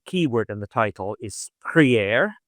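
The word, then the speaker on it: prière: Uh but I think it quite suffices just to say um that the keyword in the title is Priier.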